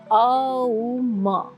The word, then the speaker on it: Aum: Om is a union of three syllables. So it's Aum.